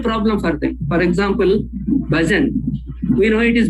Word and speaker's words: bhajan: will be a problem for them for example bhajan we know it is bhajan but because when there is no stress pattern